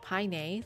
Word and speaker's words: Paine: Still, I'm reading that the Tehulche people do indeed pronounce it like Paine, like the Spanish.